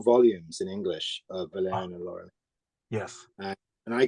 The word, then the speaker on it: Valerian: Am I pronouncing it correctly? Valerian and Laureline.